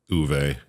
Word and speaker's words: Uwe: say it I'm pretty sure he says it uve in the movie so okay that's right because